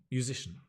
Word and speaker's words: musician: it's a me me but the stress changes so music musici music and it's a sh musici right it's a good idea if you're not sure about pronunciation break down the word into syllables mu and you can even see it mu it's a musician we talk about an